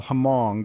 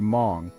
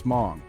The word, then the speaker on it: Hmong: set the record straight it's Mong m o n g like song but with an M got it cool this